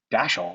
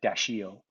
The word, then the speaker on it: Dashiell: after your father and she said how do you pronounce it and i was like daschle and she's like ah yeah he pronounced it dashiel i was like now we're going with daschle sorry but but you